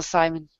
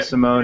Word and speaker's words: Simone: her own comic series, preferably written by Gail Simon. Yeah. One could hope, right? I think she's the one that could do Poison Ivy justice, for sure. Yeah, Gail Simone, yeah.